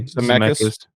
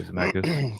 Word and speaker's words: Zemeckis: Is that how you say it? Zemeckis. Maybe Zemeckis. I say Zemeckis.